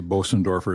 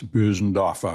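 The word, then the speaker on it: Bösendorfer: Uh you know, most Americans say Bosenorfer. It's Bendoffa.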